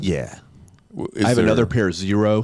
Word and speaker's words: Xero: I have another pair, Zero, spelled with an X, Xero.